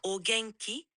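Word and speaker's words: 元気: accent est plutôt bon juste une petite précision Essie de prononcer gen avec un G comme dans eska oui c'est presque ça essaie de mettre un peu plus d'acxo sur le gay et de le rendre plus gengideska gengki bien mieux oui c'est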